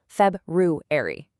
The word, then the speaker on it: February: Now, February is a bit of a tongue twister, but it demands that you pronounce that tricky little roo sound right in the middle. Feb-roo-ary. Take it slow, and it'll become muscle memory, I promise.